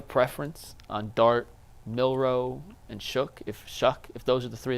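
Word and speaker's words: Shough: Do you have a preference on Dart, Milroe, and Shuck?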